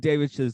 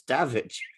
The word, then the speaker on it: Davidge: I think the only one you're pronouncing wrong was just the normal human name, because I think it's Davidge.